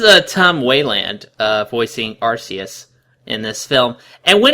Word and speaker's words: Arceus: type plates you know arus or archist to use its proper pronunciation uh can become literally